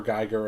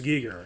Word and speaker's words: Giger: Geiger of his time. yeah, kind of. That's H.R. Giger. No, I pronounced it Geiger for a long time. Is it Giger? I'm pretty sure it's Giger.